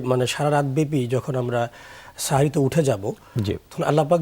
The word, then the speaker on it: সাহরি: আরবি এবং সেখান থেকে সাহরুন। বাংলা ভাষায় আমরা সেহরি বলে থাকি। যদিও মূল শুভ উচ্চারণ হলো সাহরি অথবা সুহর। কিন্তু বাংলা ভাষায় প্রচলিত যে সেহরি আমরা বলে থাকি এটাতে আসলে বিধানগত কোন সমস্যা নেই।